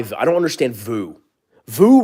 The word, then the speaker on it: VOO: VOO rhymes with poo.